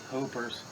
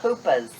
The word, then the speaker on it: Hoopers: Hoopers. Oh, Hoopas. hoopers. Good stuff. Gotta say it like that, Chris. Doesn't sound right saying hoopers.